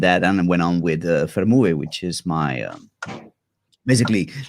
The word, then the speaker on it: FerMuBe: Yeah, only one sound in Spanish vowels. E, U, E, FerMuBe.